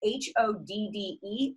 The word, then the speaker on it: Hodde: The name of our business is Hodde Brothers Beverage Co. And it's spelled H-O-D-D-E, although it's pronounced Hodde, like a true Michigander.